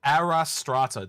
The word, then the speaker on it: Astraea: We literally had to Google it on how to pronounce it because I'd forgotten how to say it. But it's Arastra technically.